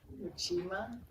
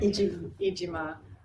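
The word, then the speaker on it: Iijima: that the songs that you sang with Chris Ujima, am I saying it right? Ijima.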